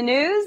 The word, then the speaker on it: gnooze: Hello and welcome to the gnooze. The G is silent.